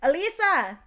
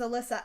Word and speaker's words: Alyssa: My grandpa will say Alisa, and I'm like, Grandpa, my name's Alyssa.